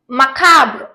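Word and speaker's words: macabre: வந்து இன்டஜஸ் நெக்ஸ்ட் பாருங்க மக்காப் இதுல வந்து நம்ம இந்த பிஆர் வந்து நம்ம சைலன்ட்டா வச்சக்கலாம் சைலண்டானா வந்து சொல்லாம இருக்க கூடாது கொஞ்சம் சைலண்டா சொல்றேன் மக்கா மக்கா ஓகேவா சோ இதோட மீனிங்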